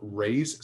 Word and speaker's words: Reye: complicating factors like opiates Reye's syndrome or raise syndrome depending what we G live in how you say it this is basically